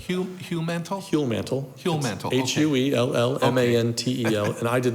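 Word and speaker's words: Huellmantel: pronounced that for me i pronounce it heal mantle almost no one else does human heal mantle mantle h-u-e-l-l-m-a-n-t-e-l and i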